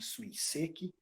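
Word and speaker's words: 水石: Então, os espanhóis dizem Suiseki, os italianos dizem Suiseki, o português, mais adequadamente, Suiseki, e não Suiseki. Suiseki, Suiseki. Suiseki. E nem Suiseki. Muito obrigado. porque pelo fato de estar entre duas vogais, tem gente que acha que pronuncia como português o Z, não é.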